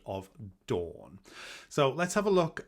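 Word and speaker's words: Dôn: So if a word has a circumflex, say, above the O, such as the word dawn for the goddess of the earth, it is pronounced similar to the dawning of the sun, dawn. But if it doesn't have a circumflex over the O, it would be don, don.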